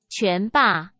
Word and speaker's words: Qanba: Okay, how do you say this now? Qanba.